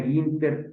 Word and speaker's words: Günter: clase virtual que es gunter se pronuncia ginter Panda miren les platico